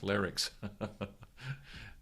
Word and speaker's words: larynx: Joe, it's spelled Larnyx, larynx. It's the larynx that comes up.